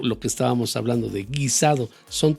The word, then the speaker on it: guisado: G-U-I, guisado.